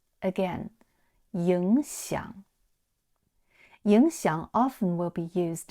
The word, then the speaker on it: 影响: 记录言行在理影响 Ying is a third tone and xiang is also a third tone. So here you have to pronounce ying into second tone. Again, 影响影响 often will be